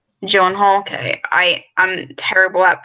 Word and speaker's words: Gyllenhaal: I just want to say for future reference, the name is Gyllenhaal. Gyllenhaal, okay.